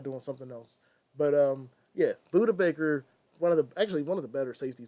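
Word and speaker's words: Budda Baker: good he's all right I was pronouncing the name wrong my bad yeah Buddha Baker shoutout to the man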